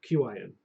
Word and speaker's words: Qin: Qin, Oh, Qin. like the Emperor Qin.